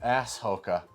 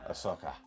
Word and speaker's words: Ahsoka: That's the drunk history of ass Hoka or as Blake will pronounce, Ahsoka.